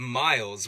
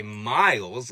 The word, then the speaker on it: Myles: And when we take a look at Myles, we immediately see an onset, right? This M sound. We don't need to worry about that too much. But for a lot of people, this Y is actually going to represent a diphthong. That's two vowels in the same syllable. So if you're saying an I sound when you say Myles, like I do, you're diphthonging it.